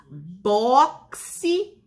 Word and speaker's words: boxe: Boxe e táxi. Olha o som, a gente pronunciando já sabe que a palavra é escrita com a letrinha X, mas quando a gente pronuncia, ela tem som X, X, C e S.